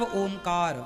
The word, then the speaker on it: ओम: प्रणव होता है, प्रणव मतलब ओमकार। कितने अक्षरों से मिलकर बना है? 3। आ उ मा। शुद्ध उच्चारण क्या है? ओम। आ उ मा ओम।